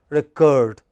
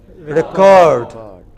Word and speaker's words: record: is it now verb when it is verb it is the second syllable which is stressed recurred but when it is a noun it is the first syllable which is a stressed as noun it is record what is it but